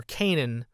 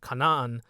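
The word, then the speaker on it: Canaan: Feud with the canites or Canan as some people pronounce it Kanan in the original so basically what happens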